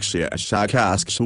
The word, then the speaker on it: Shashakask: of your human letters, something like Shashakask with a very strong pronunciation of the SH and K sounds.